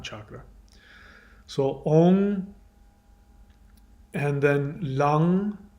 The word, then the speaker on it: Lam: So Om, and then Lang, which is spelled L-A-M. It's not lamb, it's Lang.